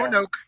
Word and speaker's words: Roanoke: The next one, Fabra War Games, Roanoke, Virginia. Can you pronounce Yep, that? yep, Or did I pronounce that right? yeah. Rowan, That's, yeah, I think it's yeah. Roanoke.